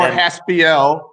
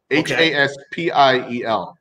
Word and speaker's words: Haspiel: Haspiel. And I'm watching the news the other day, and often people will mispronounce my name Haspiel. Sure. Like P-I-L.